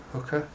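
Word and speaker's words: Huka: And then the last stop was at the Hooker, I think I pronounced it right, H-U-K-A, Hooker Falls, which we were expecting some big impressive thing, but they're actually quite small, just kind of fast flowing.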